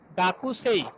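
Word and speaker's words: 学生: ই, তাহলে গাকু সেই, কিন্তু আসলে এটা কি হবে, উচ্চারণ কি হবে, গাকসেই, গাক গাকসেই। এখানে দেখেন তাহলে যে কু, এই যে কু এর উটা আপনার ডিভয়েসিং হয়ে গেছে, মানে ভয়েসটা নাই হয়ে গেছে।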